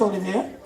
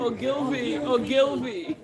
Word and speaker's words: Ogilvy: And what is written here says Olivier. Okay, so it's Ogilvy?